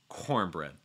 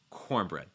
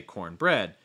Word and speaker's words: cornbread: talked about this before when you have two nouns that join together to make a single unit a single thing we're going to stress the first one so it's going to be pronounced cornbread cornbread so you don't want to say cornbread it's cornbread gonna have some cornbread